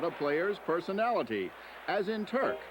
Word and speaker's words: Turk: A nickname can often tell you something about a player's personality, as in Turk, which rhymes with quirk.